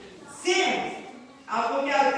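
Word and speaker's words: Samhain: असल में हैलोवीन का जो नाम है वो सैमी है, SAMHAN, सामे।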